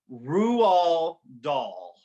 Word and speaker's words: Roald Dahl: I had to literally look up the pronunciation of this guy's name. His name is it Roald Roald Dahl.